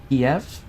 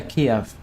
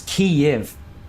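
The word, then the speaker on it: Kyiv: Keyf. Yeah, Kiev. Oh, hang on. No, the Kiev is the Russian pronunciation thing. Okay. So it's key if key if um what's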